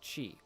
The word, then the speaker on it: qi: So, in the cosmology pertaining to yin and yang, the material energy which this universe was created from is known as qi, or pronounced chi, which qi, mind you,